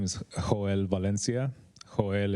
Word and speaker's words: Joel: Joel is Joel with the Spanish pronunciation.